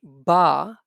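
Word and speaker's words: ب: is a little difference when we say ba so we use the wet part of our both lips like this repeat after me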